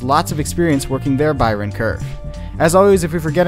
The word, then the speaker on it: Bayern Kurve: episode 19 today we'll be talking about the Byron curve now many native English speakers actually pronounce it quite differently than that but that